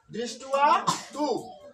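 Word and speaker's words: দৃষ্ট্বা তু: তু ঠিক থাকলো, তাহলে উচ্চারণ কি হলো দৃষ্টুয়া তু, দৃষ্টুয়া তু।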